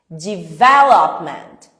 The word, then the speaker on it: development: Pegou o jeito, você não vai ficar forçando tanto, mas você tem que entender que a sílaba tônica é a segunda.